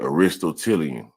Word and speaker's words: Aristotelian: All right, Aristotelian.